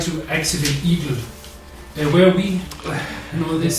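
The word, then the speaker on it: Igel: Eagle is German for hedgehog. Is it? Weirdly, yes. It's spelled I-G-E-L. Eagle.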